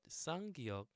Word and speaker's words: 쌍기역: As we all know, 기역 sounds like g, but 쌍기역 is just like you're putting a little more stress into it. So it's g, g. So g and g. So it sounds like .gov.